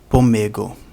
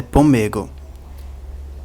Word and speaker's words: PMEG: realidade uma gramática específica chamada de pego que é abreviação que é a pronúncia da abreviação poem PM e g em português mas Esperanto esperante é pego você coloca um o entre o p e o m e um o depois do o vira pego que